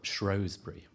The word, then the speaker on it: Shrewsbury: to the pronunciation of Shrowsbury. These days, we look at EW and we sort of say, ooh. Now you say Shrewsbury.